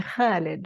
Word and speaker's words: Khalid: And I want to say Khalid with a kh, I want to say Yes, it yes.